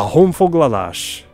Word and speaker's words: honfoglalás: «a honfoglalás» Sí, "lash". La «s» se pronuncia "sh" y así es como